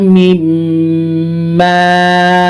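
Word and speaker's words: مِمَّا: Nassolata wa mimma razaqna, mim di bawah mi, bertasjid mim di atas ma, mimma. Kok panjang ya? Panjang karena ada alif di depannya.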